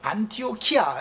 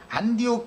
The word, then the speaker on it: 안디옥: 그래서 그 수리아 지역에는 안티오 그 안티오쿠스 안티옥 안티오키아 이렇게 발음하는 안디옥이라고 하는 큰 도시가 있죠 안옥 는 도시 그 안디옥 교회에서 이방에 보낸 사도들을 파송한 도시가 그 안디옥